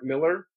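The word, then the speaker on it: Millar: the last ones was done by uh Mark Miller who's now doing a lot of work for Marvel but it's spelled in some crazy Scottish way with an a m i l uh but it's pronounced Miller.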